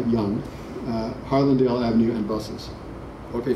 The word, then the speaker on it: Yonge: And it seems to be telling you that there are three places you can go to Yonge Street, and that's how it's pronounced, by the way, Yonge, Harlandale Avenue, and buses.